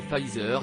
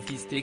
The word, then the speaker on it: Pfizer: En effet, celui-ci est nommé Pfizer et non fisté comme a pu l'indiquer le maire de Perpignan.